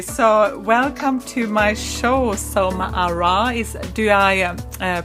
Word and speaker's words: Soma Arah: Okay, so welcome to my show, Soma Arah. Do I pronounce that the right way?